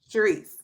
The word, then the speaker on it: Charisse: Charisse. And how do you pronounce it?